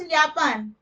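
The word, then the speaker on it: Japan: जी house यापान। कहां से आती है? जी हाउस यापान। जापान से आती है। तो जो जे होता है वो य के जैसे प्रोनाउंस होता है जर्मन में।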